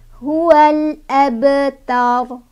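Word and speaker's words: هو الأبتر: Di sini ada qalqalah sugro ya. Karena sebabnya ada huruf qalqalah yaitu ba yang sudah sukun dari asalnya. Nih, baknya sudah sukun. Cara bacanya memantul tapi pantulannya kecil aja, nggak usah ditahan ya. Huwal abta. Huwal abtar. Nah, gitu ya. Jadi baknya jangan terlalu ditahan juga karena ini ada di tengah kalimat.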